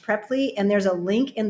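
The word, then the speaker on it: Preply: a platform called prepley or it looks like pre-ply but it's pronounced preppy and there's a link in the description and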